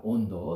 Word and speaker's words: Hondo: 온도. 스페인어로는 HONDO. H 발음 안 하기 때문에 온도라고 있는데, 온도는 깊다는 뜻이에요.